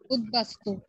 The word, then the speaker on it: উদ্বাস্তু: মনে রাখতে হবে উদ উপসর্গ যোগে গঠিত শব্দের দয়ের সাথে যদি বফলা যুক্ত হয় তখন সেই দয়ের দ্বিত্ব উচ্চারণ হয় না, সেই ক্ষেত্রে বফলা তার নিজস্ব উচ্চারণেই উচ্চারিত হয়ে থাকে, ঠিক আছে।